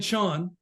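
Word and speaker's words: 禪: Zen so Zen and Zen is just the Japanese pronunciation of Chan so I always use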